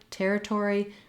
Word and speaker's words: territory: In this word, territory, you don't want to flap. Territory would sound strange. So we probably have some secondary stress on this or syllable. Therefore, we say that as a true T sound, just like the T at the start of words.